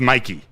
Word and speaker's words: Mike: is spelled Mike but his name is Mikey like it's like Nike it's m i k e but it is like that's his I heard